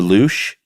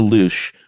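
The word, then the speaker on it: louche: if you want to uh what is it pronounced the loosh that's what I think yeah l-o-u-c-h-e if you want to create the loosh which is this uh sort of Cloudy effect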